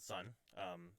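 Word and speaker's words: Sunn O))): But I really liked it, and the main drone metal band that I like, they're called Sun. If you're looking for it, it's SUNNO with two end brackets. It's spelled really weird.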